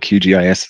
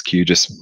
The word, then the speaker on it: QGIS: So QGIS, and I'll also alternate in my pronunciation here. So sometimes I'll call it QGIS, sometimes it's QGIS, whatever you want to call it, all works.